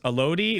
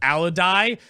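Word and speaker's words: Alodi: when we found out that it wasn't pronounced it wasn't pronounced Elodie, it was pronounced Alodai, I Oh, lost God, my blew mind.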